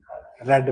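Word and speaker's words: read: सही हो गया है पहली फॉर्म रीड होती बाकी दो की फॉर्म रेड रेड होती है स्पेलिंग वही होती है ऐसा ना कर दे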